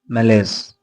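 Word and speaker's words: malaise: हाँ, हमारा next word है मेलेस। मेलेस, MELAISE, मेलेस। इट्स a noun. इसको मैलस पढ़ते हैं, मैलस, मैलस।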